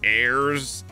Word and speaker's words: heirs: __ ] him there's plenty of words with the silent h i mean you got aeris heirs hourly honestly heirlooms homage